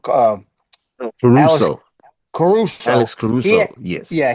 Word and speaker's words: Caruso: Um, Caruso.